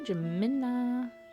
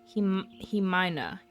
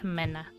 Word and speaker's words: Jimena: Jamina. Oh, the J is pronounced like an H. Himina.